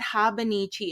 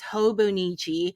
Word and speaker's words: hobonichi: viewers corrected me and say oh it's not habichi it's hobonichi I was like dang I was pronouncing it pronouncing it wrong like you could